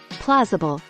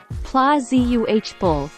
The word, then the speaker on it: plausible: of nature May 2nd plausible pronounced plazi uh bull meaning seemingly Fair reasonable